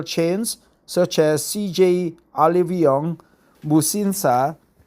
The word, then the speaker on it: Musinsa: such as CJ Olivion Musinsa in Korea we pronounce it bushinsa uh that's the kind of a conglish right there they got to be h after s but that's the how